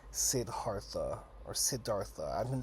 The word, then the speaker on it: Siddhartha: guys could see in the title, is called Siddhartha or Siddhartha. I've been saying Siddhartha, but like when I read the audiobook was saying Siddhartha. But yeah, I'm pretty sure it's Siddhartha, so we're gonna go with that one.